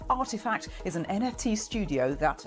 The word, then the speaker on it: RTFKT: that makes virtual sneakers rtfkt pronounced artifact is an nft studio